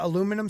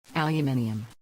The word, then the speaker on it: aluminium: this show called again this one is a aluminum spork aluminum aluminium aluminium what is that aluminium it's you're saying